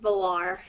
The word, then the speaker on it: Valar: I was wondering if I should either pronounce the V or not. So the V. I always kind of said it Valar. Valor. Or Balar. Like Valar, yeah. Yep. Go. Yeah. So that's how it's pronounced, Valar.